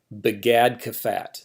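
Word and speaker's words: begadkefat: And we take the English equivalent of those letters and make an acronym. So B, G, D, K, P, or PH here, and T, begad kafat. These are the begad kafat letters.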